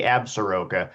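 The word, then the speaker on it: Absaroka: Sorry, people get a little the pronunciation varies, but regardless too. Yeah, that would be that's how I say as an outsider, but up here in Cody, we say absura.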